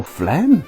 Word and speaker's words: phlegm: up is this word for mucus f-l-e-m oh phlegm nah make it p-h-l-e-g-n i guess the word